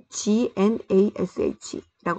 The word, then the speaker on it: gnash: 이를 가는 거를 G-N-A-S-H라고 하는데 이 G가 묵음이에요. 그래서 gnash the teeth.